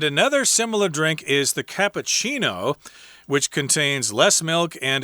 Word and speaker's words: cappuccino: topped with cinnamon powder i like the way you order cappuccinos here in taiwan what is it uh kabu well doc and that's all you need to say but uh yeah in english or italian you got to say cappuccino which is a little bit longer to say but in any case